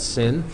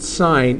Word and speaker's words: sin: to anybody listening so this is still pronounced sign even though it's an abbreviation for the uh for